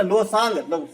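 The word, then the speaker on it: Losoong: देखिए थोड़ा सा डिफरेंस है भाई, लॉ है ना, लोसांग जो सिक्किम है ना उसमें सांग वाला प्रोनाउंसिएशन आता है, लोसांग लोसांग लोसांग है ना।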